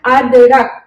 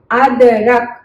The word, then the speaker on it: अदरक: We can't read it अदरक, can't. So how we are going to pronunciate it? We have to divide in 2 parts. This 2 together and this 2 together. So first 2 is a and the, ad, and then ra and ka, rak. Then you have to match adrak. Okay, so see when we are pronunciating kalam, kalam, that's the same time period you have to take adrak.